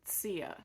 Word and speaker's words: Zia: about my heritage so even though sia is spelled zia the correct pronunciation is actually sia but it was the